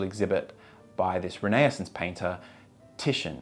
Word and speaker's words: Titian: by this renaissance painter titian apparently it's pronounced titian not tidian so after entering the